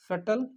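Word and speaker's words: subtle: एक हमने पढ़ा था सटल ठीक है यहां पर बी साइलेंट है सटल सटल का मतलब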